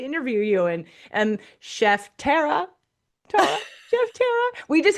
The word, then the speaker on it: Tara: My name is Tara.